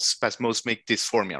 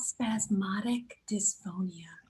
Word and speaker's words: spasmodic dysphonia: had a significant vocal issues, and it's called spasmodic dysphonia, right? So close. So close. Damn it. It's called spasmodic dysphonia.